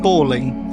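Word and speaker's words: bawling: sound like a ball exactly the same pronunciation as a ball but you would say if you're crying you would say I'm balling I'm balling I'm balling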